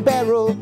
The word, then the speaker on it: Baierl: Oh, now that's how you spell barrel.